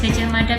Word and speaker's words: Gajah Mada: Nah biasanya kan kita kalau nulis Gajah Mada kan DA biasa ya. Tapi kalau dalam pelafalan bahasa Jawa kan kedengarannya gimana? Gajah Mada. Gajah Mada. Ya Mada ya kan.